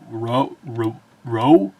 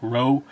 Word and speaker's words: Rwoh: is Jedi Knight Vernestra Rwoh, I think is how you pronounce it, or W-O-H. I think the W is meant to be silent, so like Rwoh.